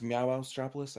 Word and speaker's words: Monstropolis: I believe it's pronounced Monstropolis, actually.